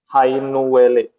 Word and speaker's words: Hainuwele: Hainuwele. How do you say it? Hainuwele.